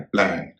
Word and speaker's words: plan: PLAN, कई लोग उसे प्लान करते हैं, इसका सही उच्चारण है प्लान। क्यों? क्योंकि ए के पहले दो कॉन्सोनेंट हैं, ए के बाद एक कॉन्सोनेंट है।